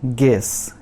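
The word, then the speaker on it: guess: उसके बाद गेस, गेस में देख सकते हैं आप कि यू साइलेंट है, गेस मतलब अनुमान, गेस।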